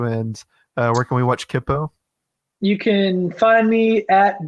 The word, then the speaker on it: Kipo: Also, I just realized I was pronouncing it wrong. I said Kipo, didn't I? Oh, it's fine. It's Kipo. Happens all the time.